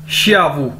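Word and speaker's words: 下午: Next है जी हमारे पास श्यावू, एक्स को हम शीन के तौर पर प्रोनाउंस करते हैं, एक्स आई ए डब्ल्यू यू, श्यावू, श्यावू, श्यावू मतलब आफ्टरनून, दोपहर, ठीक है।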